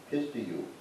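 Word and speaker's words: πιστεύω: I did a little extra work here, not much, but so the Greek word for believe in the New Testament is pronounced pistiu.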